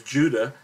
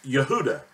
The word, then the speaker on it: Yehuda: of the tribe of what most people refer to as Judah, but is really referred to as correctly as Yehuda.